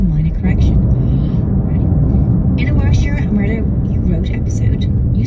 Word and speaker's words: Warwickshire: He emailed in to offer a correction on our Warwickshire Murder You Wrote episode. I Okay. do love the corrections. Did Ian pronounce something wrong?